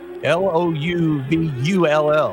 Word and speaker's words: Louisville: You talk to people up there, it's Louisville, Louvull, Louisville. And laughing at Lance, there's